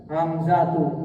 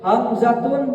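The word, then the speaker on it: حمزة: ini tau tais paham maka dia tidak boleh ditanwinkan hamzatu contoh hamzah hamzatu th thhatu thhatu paham dibacanya tidak boleh tanwin ini termasuk nun sh sar shar sarfi dilarang tan tan tan tan tan tan tan tan tanwin ketika baca enggak boleh hamzatun enggak boleh hamzat hamzatun salah Tab tan tanwin.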